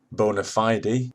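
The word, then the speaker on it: bona fide: exclusively in legal terminology there is a fashion in english law to deliberately mispronounce latin so i'll be using the legal pronunciation if you can call it that bonafide is the legal pronunciation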